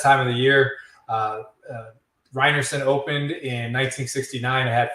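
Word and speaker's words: Rynearson: I pronouncing that correctly you are pronouncing it correctly reinerson Stadium yes matching these are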